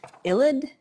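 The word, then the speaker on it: ylide: attached to it um one of them is illid so that's spelled y-l-i-d-e um and it's also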